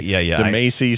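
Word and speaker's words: Katamari Damacy: Kadamari Democracy Oh, Damasia. I think it's Damasia, but I hate it. Some people say Dece, some people say Damasi.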